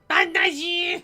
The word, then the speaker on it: Banaji: Banaji! Banaji! Because you know that's how they say it in the game.